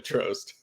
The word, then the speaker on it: Trost: this is a funny story, but it's actually Trost. Well, thanks for coming on, man. Is it? Is that proper pronunciation?